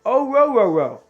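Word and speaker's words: Orhorhoro: Let me see if like Clemson's website has a different pronunciation. Yeah. Nope. It's O-ro-ro-ro.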